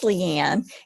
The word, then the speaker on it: Leanne: joining us tonight and is it laney or leanne i don't want to butcher your name but uh if you would pronounce that for us and introduce yourself last name are you hi it's leanne and i'm with advent